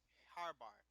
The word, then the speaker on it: Harbar: We gotta come up with this pronunciation right now. Harbar. Is everyone okay with that?